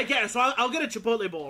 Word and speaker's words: Chipotle: So, for example, at at uh at uh Chipotle, I'm sorry, let me say it correctly because sometimes I say it wrong.